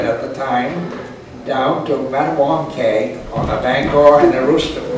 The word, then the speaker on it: Mattawamkeag: Wytopitlock and Mattawamkeag are pronounced essentially as written. Wytopitlock, Mattawamkeag. Thus, wit, o, pit, log, and mat, a warm keg. Principal stress on the penouse.